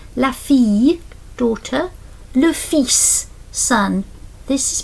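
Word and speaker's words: le fils: Lis son. This is pronounced this s which is quite unusual.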